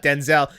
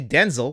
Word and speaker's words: Denzel: out this week, his name is actually not Denzel, it's actually Denzel. We've been pronouncing it wrong, and he told a little